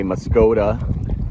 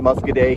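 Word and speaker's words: Muscoda: so here's the bridge in the town of muscaday I think the average person read it on the map they would say moscoda how it's spelled but they pronounce it muscaday here just like we passed a little town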